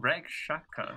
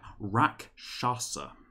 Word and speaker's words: Rakshasa: What are they called? Rakshaka? What? Rakshasa.